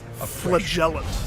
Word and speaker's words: flagellant: flagellant escapes the SI flagellant that's how you say it so it's like a j instead of a g flagellant you got to hit the ellent 100% damage while on